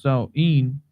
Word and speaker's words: Samhain: Oh, sir, it says Halloween's origins date back to the ancient Celtic festival of Samhain, Right, pronounced Samhain.